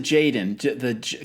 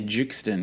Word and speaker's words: jxdn: on repeat for sure so you pronounce it jaden cause i was trying i keep saying i mean i feel like such an idiot back throughout this whole episode i say juxtan because i didn't know